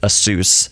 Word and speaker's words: Asus: that's Asus yeah or Ace that's maybe and obviously it's not obviously you pronounce it Asus yeah but before now